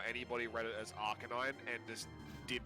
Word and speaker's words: Arcanine: say arcanine it's like it's clearly arcanine because it's a dog canine yeah like i do not understand how anybody read it as arcanine and just did not